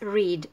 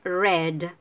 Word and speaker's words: read: pero se dicen distinto este es engañosa esta palabra en el presente o infinitivo es reed pero pasados en la red como el color grade sí sí es